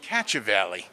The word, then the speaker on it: Cacciavalli: Cacciavalli, all right. Like Cacciavalli right here in Pahrump Valley, right? Yes, like catching a valley.